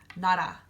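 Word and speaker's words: 나라: a vowel and hiet, it's gonna be the R sound. So examples of that would be nara. So nara means country. So in this word, it's an R.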